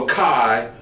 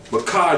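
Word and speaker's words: Micah: of Yahweh forever and ever that's according to Makai the fourth chapter in verse 5. um curia for the readers for the for the viewers please read her Makai the fourth chapter verse 4 Makai the fourth chapter in verse five okay Makai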